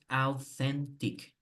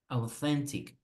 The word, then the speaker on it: authentic: Por favor, presten atención a ese TH que está en medio, porque no se pronuncia authentic. Auténtico es español, but here we will pronounce authentic. Authentic.